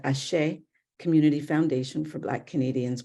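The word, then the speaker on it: Àṣẹ: It's pronounced ASHA. It is a Yoruba word.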